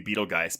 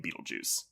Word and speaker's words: Betelgeuse: we were calling him Beetlejuice when it's clearly Beetlegeist, but it literally is like that spelling of Beetlegeist. You do pronounce it Beetlejuice because you pronounce that star's name Beetlejuice.